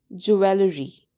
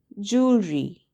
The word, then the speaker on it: jewellery: People often say jewellery. What you should say instead is jewellery. Jewellery. There are only 2 syllables and the stress is on the first syllable.